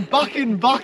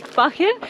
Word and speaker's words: Buchan: We're in Buchan, alright? We finally learned how to say it. Pronouncing it wrong. Finally learned how to say it, guys. It is Buchan, and it's sunny and it's beautiful.